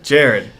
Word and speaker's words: Jarod: got to go hug Jerrod or Jarrod Jarrod Jarrod like that's how I pronounce my name yeah so let's let's